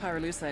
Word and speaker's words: pyrolusite: You know what pyrolusite is, right? Yeah, neither did I. Pyrolusite, key syllable pyro, by the way, is the shit